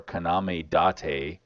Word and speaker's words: Kaname Date: Factory, Guardians of Azuma, and No Sleep for Kaname Date. I'm assuming Yes, that's how you sir.